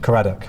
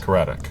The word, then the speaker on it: Caradoc: Number one, is your full name Kared? Yes. Correct. Do I just say yes or no? Say yes or no. Yes. Did I pronounce that right? Karate. Yes. Karate.